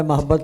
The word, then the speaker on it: محبت: آپ نے محبت پڑھا تھا. ٹھیک ہے ماشاء اللہ. تلفظ اچھا پڑھا آپ نے. محبت, محبت میم کے اوپر زبر نہیں ہے, پیش ہے.